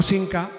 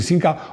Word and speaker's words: Simca: Cuando Simca era de Fiat. Me está volviendo loco Rodrigo porque dice que pronuncio Simca con N. Vamos a ver, que para una persona de Madrid no hay diferencia.